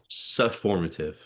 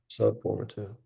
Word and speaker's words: sufformative: A Sufformative. subformative. So like suffix, but instead of suffix, it's sufformative.